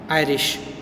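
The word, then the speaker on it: Irish: पर उसको कहा जाएगा आयरिश. इरिश भी बोलते हैं कुछ लोग इसको आयरिश भी बोलते हैं. Both the pronunciations are correct.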